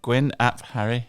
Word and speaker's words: Gwyn ap Harri: so your name is very unique did we pronounce it correctly you did yeah Gwyn app Harry yeah that's right okay good can you please